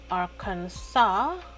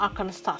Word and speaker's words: Arkansas: I was in Tennessee, and it's actually in Arkansas. Arkansas? That's how they say it, right? Arkansas. It's not Arkansas, right? It's Arkansas.